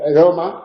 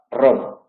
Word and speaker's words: Roma: Pues en italiano se dice Roma, la capital de la República, mientras que en español dirá Roma. En español nunca dice Roma, ni Ramón.